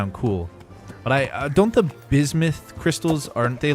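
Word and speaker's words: bismuth: He said it's pronounced bismouth, not bismeth.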